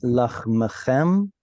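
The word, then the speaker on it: לחמכם: Vehisig lachem dayish et batzir, uvatzir yasig et zara, va'achaltem lachmechem lasova, vishavtem lavetach ba'artsechem. Here, whenever you see those two shvas, remember to split them up, and it'll make it easier to pronounce.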